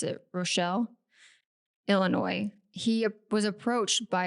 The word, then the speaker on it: Rochelle: a young boy while visiting his grandparents in Rashelle, Illinois. That's guaranteed not even how you pronounce it. Rochelle, Illinois.